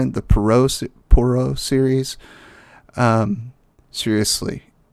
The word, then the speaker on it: Poirot: about okay whatever but so it's poro not pero and I will say it if I said it wrong if I said it like it's because I'm Texan I'm familiar with the name and yeah my apologies